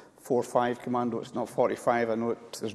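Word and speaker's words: 45 Commando: As it happens, it was the night between 11 and 12 June when my unit, which is pronounced “four-five Commando” rather than “forty-five Commando”—there is no explanation; that is just what it is known as—conducted an attack.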